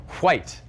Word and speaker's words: white: his mouth is that he pronounces it white. I'm all for free speech, but if I were president, you better believe it would be illegal to pronounce that H.